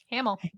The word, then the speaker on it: Hamill: I'd be like, is it really Haml? I don't know. How how do you pronounce it? Hamill. Ham. Ham. Hamill. Oh yeah. I I I I know a ham. Yeah. Hamill. That's easy.